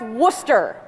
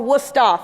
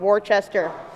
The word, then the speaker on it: Worcester: my college which is spelled or pronounced worcester or wusta for the locals not worchester uh this presentation is creative